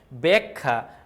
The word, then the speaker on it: ব্যাখ্যা: বলতেছে এখানে যেটা বলতেছে শব্দের আদিতে যদি জ্ঞ থাকে বা জ ফলা যুক্ত ব্যঞ্জন বর্ণের সাথে আকার যুক্ত হয় সেই আকারের উচ্চারণ প্রায়শই একার হয় তার মানে যদি এইটা